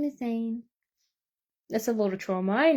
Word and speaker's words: Zayn: Zane. So it's spelled Zayn.